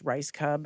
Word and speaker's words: Rajskub: Or that I have to phonetically say that it's Rajskub.